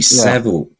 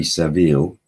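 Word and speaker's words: Savile: d d d and it's Jimmy sevil just sevil not sa Jimmy Jimmy Sav yeah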